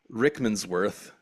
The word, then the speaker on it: Rickmansworth: death so they head to a place called rickmansworth sure I'm pronouncing that wrong just north of London yeah